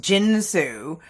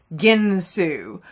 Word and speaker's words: Ginsu: infomercials like Ginsu knives it's not pronounced jinsu it's pronounced ginu or like you know